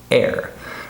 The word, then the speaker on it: air: I hear this word right here pronounced R all the time. I hear many of my students say air conditioning, for example. So that's the wrong sound here. So we have the sound air, right?